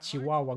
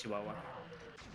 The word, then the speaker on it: Chihuahua: I love it how you pronounce Chihuahua. My bad. Chihuahua. That's actually how you write it. Yes. Yeah, that's the Finnish way. That's how you say it too, so it's best.